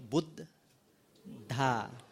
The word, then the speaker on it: Buddha: the be there is a BB right so boot ha the h8 h is of the audible boota